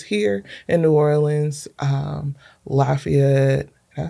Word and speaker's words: Lafayette: Um Lafayette. Did I say that right? Cuz you know if I say it wrong. Lafayette.